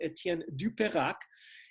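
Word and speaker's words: Étienne Dupérac: renaissance artist's uh name not only misspelled it but mispronounced as well but this is etienne du perak and uh this is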